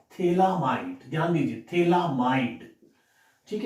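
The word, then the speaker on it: phthalimide: Students, गैब्रिल scientist का name है, थैलीमाइड, इसमें PS साइलेंट रहता है।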